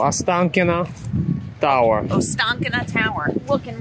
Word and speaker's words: Ostankino: It's called Ostankino Tower.